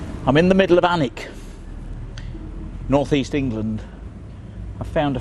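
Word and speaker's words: Alnwick: Saxon word for Homestead or farmstead it's obviously pronounced anik it was originally given to the daveshi family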